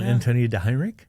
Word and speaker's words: Antonia DeHeinrich: Well, Antonia DeHeinrich, Yes.